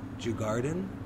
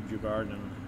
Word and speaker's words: Djurgården: I'm gonna be terrible with the pronunciation of this. Djurgården?